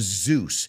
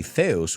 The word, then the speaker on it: Zeus: in the Temple of Zeus and if you notice we don't say Theos we say Zeus we know Zeus he's